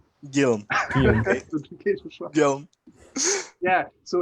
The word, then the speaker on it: Guillaume: So my name is Guillaume. Guillaume.